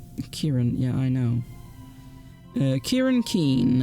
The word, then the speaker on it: Kieran: It's pronounced Kieran, yeah, I know.